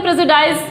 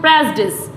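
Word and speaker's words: prejudice: Next है, इसको क्या बोलते हैं, प्रेजुडाइज, यही बोला जाता है प्रेजुडाइज, लेकिन ये प्रेजुडाइज नहीं होता है, इसको वर्ड्स को हम जो बोलते हैं वो बोलते हैं प्रेजुडिस, प्रेजुडिस, प्रेजुडिस, प्रेजुडिस।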